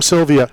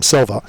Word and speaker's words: Sylvia: said how when he when he heard that Tim Sylvia I'm sorry he said Tim Silva I didn't want to correct him I did say it wrong huh I said it